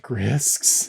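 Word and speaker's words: Grysks: They're pronounced Grisks.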